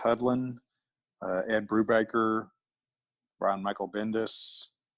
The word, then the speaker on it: Hudlin: Writers like Daniel Way, Reginald, it's like pronounced Hudlin, Ed Brubaker, Brian Michael Bendis.